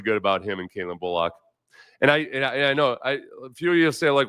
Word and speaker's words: Bullock: about him and Caitlin Bullock and I I know I a few of you say like why you emphasizing the the O and Bullock because that's the way he wants it pronounced and unless I really